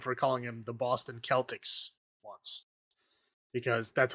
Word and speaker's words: Celtics: Because Celt is Celt. That's how you pronounce it. That's all through European history. That's how you pronounce that word. And then Boston, who should know better, because there's a lot of Irish people in Boston, named their basketball team the Celtics, spelling it the same as Celtics. Yeah. I never understood that. And I called them Celtics, and I got made fun of.